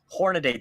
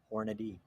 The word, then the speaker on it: Hornady: me a little bit hornadade the most that that that's just nuts the worst is when it's actually company employees who actually say that that's just ridiculous it's like it's Hornady yep that's that that's